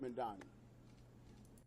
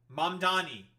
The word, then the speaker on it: Mamdani: I'm running and I'm going to beat Mandani. Why do these never pronounce M? It's Manni. M A M D A N I. Listen, it's M Donnie.